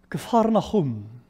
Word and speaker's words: Capernaum: It's pronounced Capernaum, the town of Jesus.